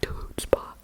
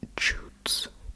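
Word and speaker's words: chutzpah: Next one is also it's it's the the spelling and pron pronunciation uh they both piss me of hoodba the word hootspa uh which means unusual and shocking behavior.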